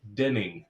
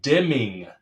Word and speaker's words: Deming: saying his name wrong. Ed Deming. I was putting in ends there.